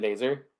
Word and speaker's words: Nazar: saying it wrong the whole time is it ner that's what that's what they've been saying it like on the yeah on the broadcast yeah so I don't know either ner or Nazar who knows Frankie going to the